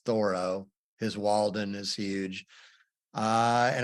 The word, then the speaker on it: Thoreau: Thoreau, many times mispronounced Thoreau, but it's Thoreau.